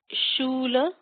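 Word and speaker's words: śūla: Then we have shula, sh. This is an S with a kind of like almost like a French accent aigu. Shula, U with a long U line on top. Shula.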